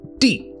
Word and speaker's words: 地: So it's pronounced di, and on the left side, you have the soil component.